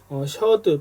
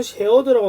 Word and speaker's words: Sheard: 하게 되는데 그 공식이 오늘 보게 될 셔드 또는 쉐어드라고 나올 수도 있는데 어떤 셔드라고 이런게 맞을 것 같긴 합니다만 그래서 셔드 기준과 val이니까